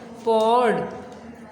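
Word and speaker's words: poured: पॉर्ड, पॉर्ड। इसमें आर जो है बिल्कुल आपने क्लियर भी नहीं बोलना और बिल्कुल आपने इसको साइलेंट भी नहीं कर देना, थोड़ी सी आवाज़ इसकी आएगी। पॉर्ड, पॉर्ड, ठीक है।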